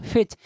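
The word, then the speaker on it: fetch: तो सी एच के पहले अगर टी आता है तो टी होता है क्या, साइलेंट।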